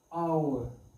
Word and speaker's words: our: Here, next one, a, and how we pronounce it? Our. H remains silent here.